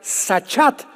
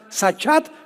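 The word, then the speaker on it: שחת: La palabra corromper también es importante porque la palabra hebrea sachat se escribe con S de Samuel y CH, como suena sachat con T de tío al final.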